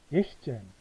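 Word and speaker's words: sechzehn: 어 잭스 젠이 아니고 S가 빠집니다. 예시젠 예시젠 그다음 필도 지벤젠 안 하고 어 지벤 안 합니다.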